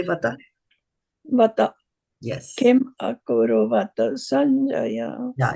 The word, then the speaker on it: akurvata: Kim akurvata Sañjaya. Yeah, you have to Practice. pronounce the last A, and then don't read from your mind, okay?